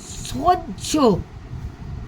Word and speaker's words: সহ্য: বলি হ আমরা কি বলি তখন আমরা বলি সহ্য দন্তস হজ জপলা সহ্য বকার হজ জপলা বাজ্য তো আমরা ঝ বলি হয়ে জপলার উচ্চারণটা কি বলছি ঝ একদম উচ্চারণটা সম্পূর্ণ কিন্তু